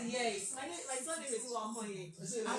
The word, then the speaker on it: Uwakhonye: And one thing interesting about my surname is that you actually need to smile to get it right. You don't smile. To get it right. Yes, you won't pronounce it right.